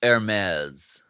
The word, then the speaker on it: Hermes: Uh it's pronounced Hermes.